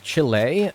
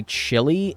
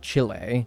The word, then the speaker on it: Chile: an uncultured American that I say chili instead of Chile or Chile yes I'm aware I'm